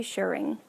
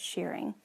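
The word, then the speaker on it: shirring: the back there's also they're supposed to be shearing I think that's how you say it s h i r r i n g I don't think it's shearing but anyhow it calls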